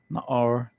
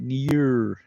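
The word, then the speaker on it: נַעַר: It's usually like some kind of bugged out pronunciation, right? Near, right? But, you know, they got it. It says Na'ar, right?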